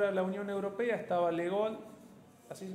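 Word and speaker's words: de Gaulle: primera vez entrar a la Unión Europea estaba legol así se pronuncia el de Francia estaba el presidente francés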